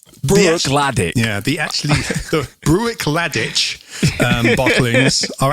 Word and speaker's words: Bruichladdich: Bruichladdich, it looks like it should be pronounced Bruichladdich, but I've been watching the film today and it's Laddie. Bruichladdich. Bruichladdich. Bruichladdich.